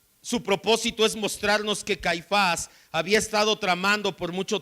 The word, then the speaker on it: Caifás: 26 57 a nash no es anás y caifás es anás y caifás llevan acento ambos en la última sílaba anas era la mente